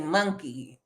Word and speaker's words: monkey: It's almost like it's M-U-N. But see, you say it wrong. It's M-O-N.